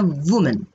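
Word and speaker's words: women: ठीक है, अब आते हैं वुमेन, वुमेन है ना, वुमेन है तो ये क्या है, ये सिंगुलर है, लेकिन अब जब प्लूरल हो जाएगा तो इसका प्रोनाउंसिएशन बदल जाता है, इसको बोलते हैं विमेन, विमेन, क्या बोलेंगे इस,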